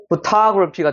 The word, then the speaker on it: photography: 포토그래피 아닙니다. photography가 되는 거예요. photography. 여기가 으 사운드, 여기 으 사운드, 여기 아 사운드, 다시 으 사운드.